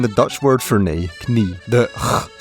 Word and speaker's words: knie: Another example of this can be seen in the Dutch word for knee, knie.